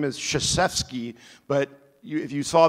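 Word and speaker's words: Krzyzewski: because his name is chfi but you if you saw the spelling of it you would never know it starts with a K which is silent so anyway good job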